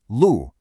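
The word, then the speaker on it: 陆: Lu, and we say it lu. It's a nice, sharp, falling tone.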